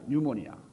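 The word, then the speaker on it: pneumonia: 피라는 말은 묵음으로, 영어에서는 이 피 발음을 안 하니까 거기서 뉴모니아.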